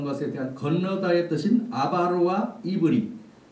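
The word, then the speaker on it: עברי: 아브라함이 유브라데스 강을 건넌 것에 대한 건너다의 뜻인 아바르와 이브리. 이스라엘 사람들은 히브리를 이브리라고 발음을 해요.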